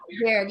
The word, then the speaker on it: Verde: Uh the population of uh Cape Is it pronounced Verde? Verde, yeah.